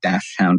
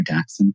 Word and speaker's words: dachshund: here it's pronounced very differently. I've become a very active community member in the dachshund or dachshund community here in South Florida.